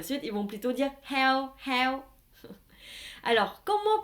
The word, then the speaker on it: heo: vocabulaire du sud, c'est heo, heo. Donc, dans la prononciation, l'accent ici, c'est un accent neutre. Heo. Le H se prononce h, h. Vous sentez, il y a de l'air qui sort.